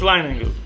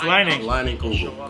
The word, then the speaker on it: Leinenkugel: And to see So it's Leinenkugel. It's Leinenkugel. Kugel. The Leinie Lodge reunion. All right, that's what I wanted to know. I was not pronouncing it right, but it's Leinenkugel. Leinenkugel.